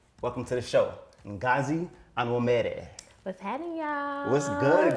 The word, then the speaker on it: Onwumere: Welcome to the show, Ngozi Onwumere. What's happening, y'all? What's good, girl? What's good? I said it right. Yep. Onwumere. See, I said that makes you real when you say it with an accent.